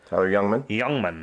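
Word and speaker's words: Jungmann: Number two, Tyler Youngman is how you say that.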